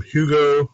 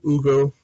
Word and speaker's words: Hugo: So the next item is from Hugo or Ugo. Is it Ugo? Dufort. What is the proper pronunciation? Do you pronounce the H like Hugo? Or is it I think in French you would pronounce Hugo Dufort.